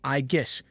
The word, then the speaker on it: Aegis: Aegis is supposedly the name of Zeus's shield, and the way you say it is Igus with a strong emphasis on the G.